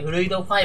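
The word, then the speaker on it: フルイドV: 全員がフルイド 5 フルイド V って書いてフルイド 5 って読むんでってこの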